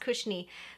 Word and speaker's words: Cushnie: I think it's pronounced Kushni. Kushni has like some really